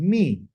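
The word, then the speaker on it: מי: This dot right here and this yod right here represent this this sound here like in B or me, okay? Two E sounds, okay? A long E sound, okay? So, that's what it's called, me.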